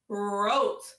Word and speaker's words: wrote: Again, that silent E that makes that O go a long O. So we have O. What word? Wrote.